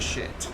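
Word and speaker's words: Schiit: And yes, you pronounce it shit.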